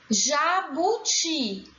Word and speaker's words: jabuti: Jabuti. A sílaba tônica, ti.